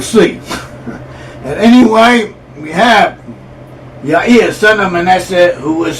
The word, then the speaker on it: Yair: j a i r it should be pronounced y or at least that is how it's pronounced in Hebrew and that is also